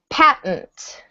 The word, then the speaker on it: patent: Number two is patent. Patent. You might want to say patent. You can. In fluent spoken English, it will sound like patent. Patent.